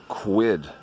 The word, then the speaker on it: Kwid: of you a Renault kwid yes I quit that rhymes with squid and you may be